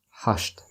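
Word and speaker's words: ҳашт: of them almost eight hushed hushed hushed and just like seven we don't pronounce t at the end hush like that so he works from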